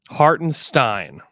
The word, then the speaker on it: Hartenstein: me Ste is bad so it is Stein not Stein I've been saying it wrong for a little bit so it's just a straight Stein that's great it's just a straight Haren Stein it's so funny because